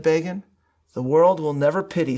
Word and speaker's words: Begin: As I described in this month's column and commentary, Time magazine helpfully informed its readership that the name Begin, quote, rhymes with Fagin.